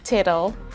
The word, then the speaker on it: tittle: spelling it's not title we have two t's there in the middle of the word so it's pronounced as title do not forget to